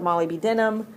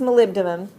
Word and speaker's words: molybdenum: these chromium molybdenum or as you learn to spell it Molly B denim that's actually pronounced molybdenum copper silver and gold